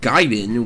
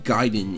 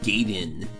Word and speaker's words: Gaiden: same universe hence the Gaiden in the title the word means side story and is most definitely not pronounced gate in some characters from the